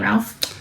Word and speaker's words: Ralph: How do you spell your name, Ralph? R A L P H. Uh, pronounced in England, Wrath, but I say Ralph.